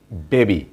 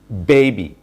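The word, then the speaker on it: baby: Dear learners, আমরা এই ওয়ার্ডটির pronunciation করে থাকি বেবি। সো বেবি ইজ নট the right pronunciation. So এটার রাইট প্রনাউন্সিয়েশনটি হচ্ছে বেবি, বেবি। এখানে বিতে কিন্তু স্ট্রেস দেওয়া আছে, আপনারা দেখতে পাচ্ছেন। সো এটার প্রনাউন্সিয়েশন হবে বেবি, বেবি, বেবি।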